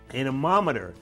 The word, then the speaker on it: anemometer: April 12th at 7 p.m., Mount Washington Observatory's Next Generation Anemometer. Anemometer. That's right. I knew that I wasn't saying it right.